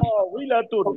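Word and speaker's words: طاولة: তটা একটু টান দিলেই ওয়াওটা উচ্চারণ সহজ হয়ে যাবে। তাওইলাতুন। তাওইলাতুন ওয়াওয়ের মধ্যে টান হবে না।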